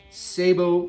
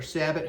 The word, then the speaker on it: sabot: Now, today I'm going to go over the best 12 gauge and 20 gauge Sabo or Sabbat, however you like to pronounce it, shotgun shells for your slug gun.